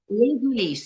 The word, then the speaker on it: Les Ulis: Les Ulis, se escreve L-E-S, Ulis, U-L-I-S.